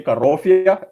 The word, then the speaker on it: Karofia: on your mind yeah you can say karofia like that that's the way you pronounce it uh all right I'll